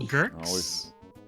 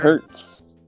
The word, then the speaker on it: Gertz: Gertz. Oh, like Gertz. Hurts.